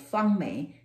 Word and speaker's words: Fang-Mei: need more clarification if i use my name called fung me then they will say